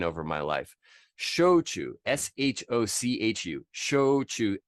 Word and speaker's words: shochu: my life shochu s-h-o-c-h-u show to just pronounce it like the verbs show and choose show me how you chew your food like you would say